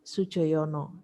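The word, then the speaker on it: Sudjojono: D dengan J itu dibaca J, J saja dibaca Y, Sujoyono ya.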